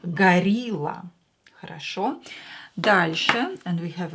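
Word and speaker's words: горилла: in english right gorilla in russian o will be pronounced as a because it's not stressed gorilla rasho darshan and we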